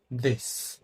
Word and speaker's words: this: সেটা হচ্ছে প্রথম যে ওয়ার্ডটা আছে সেটার মধ্যে এস এর উচ্চারণটা হবে দন্তাস্বয়ের মতো, দিস।